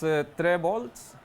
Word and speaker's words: Trevolts: Yes, that's Trevolts, so that is correct.